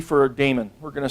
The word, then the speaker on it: daemon: dash D for a daemon we're gonna start a demon or a demon however you want to pronounce that okay so - D